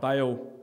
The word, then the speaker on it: Baal: Now Baal, I believe technically should be pronounced Baal, but the god of lightning's not that operational anymore, so we're safe just to say Baal because we all know what that means.